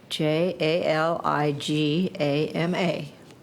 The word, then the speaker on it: Jaligama: And I'm going to just spell it. J A L I G A M A.